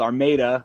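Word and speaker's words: Armada: north to a little town called our maida oh shoot it's spelled our motto and everyone does that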